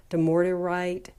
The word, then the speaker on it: dumortierite: I'm probably not pronouncing it right. Dumortierite, and it's the easier way to pronounce it is desert lapis, like desert lapis lazuli.